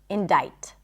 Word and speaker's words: indict: When you come across it, it makes sense that you'd assume that the C is pronounced, but it's not. Indict.